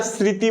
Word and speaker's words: স্মৃতি: এই যে স্মৃতিটা খেয়াল করো, স্মৃতি, আমরা কি স্মৃতি বলি না স্মৃতি বলি? অবশ্যই স্মৃতি। আমার সাথে একটু উচ্চারণ করো, উচ্চারণের ক্লাসে উচ্চারণ করো।